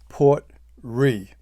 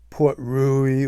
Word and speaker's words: Port Ruighe: been around for a while um the talisker port re if you look at the label though it looks like it's Port rui or Port rug um but it's pronounced Port R and I